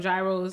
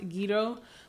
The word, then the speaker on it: gyros: and we love well i call them gyros i know i think they're pronounced guido but i love these